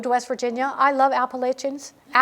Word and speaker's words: Appalachian: I love Appalachians. I have to learn to say it correctly because I never said it right. It's Appalachian.